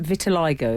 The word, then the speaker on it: vitiligo: said a friend of his says is it vitiligo it's pronounced on his elbows, knees and around the